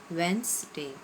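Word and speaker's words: Wednesday: when stretched वेंस्डे Suisse very easy two drops वेनसडे कि example जो अ likes to गो फॉर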